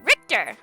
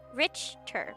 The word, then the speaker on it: Richter: Oh, RTOR. It's got to be RTOR, right? It's like totally RTOR. That's why he's like so against it, right? How do I pronounce Rick? Richter.